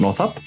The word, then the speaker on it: Northup: be partially northip but is it north up yeah you pronounced it entirely rightly and um thank you